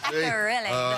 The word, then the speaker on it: Bahia Akerele: Bahia Akerele.